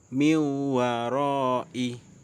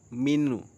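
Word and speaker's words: من وراء: Miwaroi. Bukan minu. Bukan min, tapi miwaroi. Nah, meskipun tidak ada tasydid, di sini tetap bacanya miwaroi.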